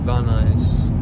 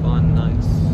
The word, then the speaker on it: Van Nuys: Van Nuys. Like the shoes Van and the Nuys. Van Nuys.